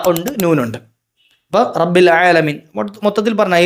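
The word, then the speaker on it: رب العالمين: റബ്ബുൽ ആലമീൻ യഥാർത്ഥത്തിൽ ആ റബ്ബുൽ ഐനാണ്. അവിടെ ഐനെന്ന അക്ഷരം മാറിയിട്ട് ലായ അയക്കണം. റബ്ബുൽ ആലമീൻ തെറ്റാണ്. റബ്ബിൽ ആലമീനാണ് യഥാർത്ഥത്തിൽ. റബ്ബിൽ ആലമീൻ യഥാർത്ഥത്തിൽ അവിടെ തെറ്റുന്നത് ആ ഐന് മാത്രമാണ്.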